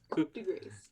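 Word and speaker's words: coup de grâce: You How it's pronounced? Wow. Yeah, coup de grace.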